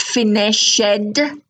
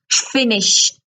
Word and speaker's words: finished: your regular V3 forms the Ed is pronounced in three different ways right enough of me